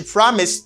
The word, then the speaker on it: promised: Ed should pronounce as t sound. You say, she promised to love him.